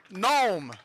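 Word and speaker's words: Noem: dakota and so and i was told it's pronounced gnome right gnome governor gnome so governor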